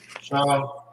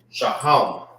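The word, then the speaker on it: שהם: Shaham. Shaham.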